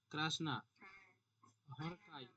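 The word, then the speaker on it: Krasznahorkai: আর এ ক্রাচ, ক্রাজনা, মানে জেডটা উচ্চারণ হবে না তাই তো, ক্রাসনা, হরকাই, হরকাই। ঠিক আছে, ক্রাসনা হরকাই।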